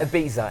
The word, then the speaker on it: Ibiza: think they pronounce it Ibiza. Ibiza, it's here, Ibiza.